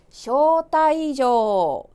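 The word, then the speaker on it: 招待状: 발음이요. 쇼타이조.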